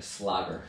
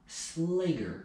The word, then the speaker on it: Slager: People still call me a slogger. Slogger. Slogger. I was like, isn't that how you pronounce it? Like in Dutch, yeah. In Dutch, yeah. Because it means butcher. Yeah. But yeah, Americanized, it's a long A. Slager.